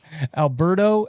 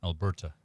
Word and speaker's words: Alberta: got that one right alberto and then british columbia alberto alberto alberta alberta thank you sean at